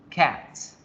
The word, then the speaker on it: cat: y bien sé que la palabra gato su pronunciación es esta creas que practiquen la yenka sacadas cats jacques con la torcida la cortar la de